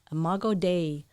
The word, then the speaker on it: Imago Dei: Don't be afraid to grow and to let people know how beautiful you are, because we're all imago Deo. That's how you say it. Imago Dei.